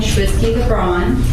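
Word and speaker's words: Shwitzky LeBron: My name is Schwisky LeBron. It's spelled S H W I T Z K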